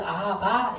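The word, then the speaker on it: אהבה: 뒤에 붙은 해는 발음을 안 해줘요. 끝에 오면은 발음을 안 합니다. 그래서 아하바 이렇게 하는 거예요.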